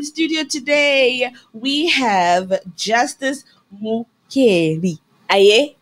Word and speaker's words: Mukheli: And in studio today, we have Justice Mukheli. Aye? Did I say it right? Yeah, Justice Mukheli. Mukheli, yes. I said it right because we always want to get things right.